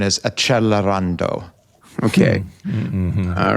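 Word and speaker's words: Accelerando: Uh like a 100% uh and as some of my readers like to remind me, the more proper pronunciation is Acchelarando.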